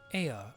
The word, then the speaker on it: Ea: When the vibration of vocals folds was still required to convey our thoughts, in intention Ea, I believe, was the pronunciation we used when referring to our people.